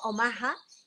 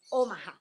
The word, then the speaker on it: Omaha: todos mis amigos en omaha nebraska yo digo omaha y bueno la verdad es que parece que la pronunciación correcta omaha sin embargo todos allá decían o más entonces es bueno hasta